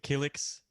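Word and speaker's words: Killiks: The Kiliks. Man. How do you pronounce it? Kaliks. Yeah, Kiliks? Kiliks.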